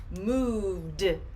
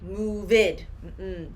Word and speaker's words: moved: part the d now the pronunciation for this sound moved sometimes i hear my students say move it do not separate moved moved now you hear moved you hear the d sound here let me give